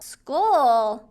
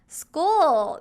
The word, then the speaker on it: school: 근데 우리가 그냥 봤을 때는 SCH 이러니까 수추인지 모를 수 있잖아요. 그렇잖아요. 근데 옆에 발음 기호에 school 이렇게 발음이 난다 라고 있기 때문에 school 수출이 아니라 school 이렇게 나는구나 라고 생각을 해서 읽어줄 수 있다는 거예요.